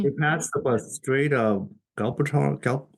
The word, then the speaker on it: Gibraltar: We passed the Strait of Galbator. How do you pronounce that word? The Strait of. Gibraltar.